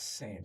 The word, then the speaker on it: Seine: So we set up a boat on the Seine River, and like it was like a champagne boat tour. And pronounced sane. Seine, yeah, there you Yeah.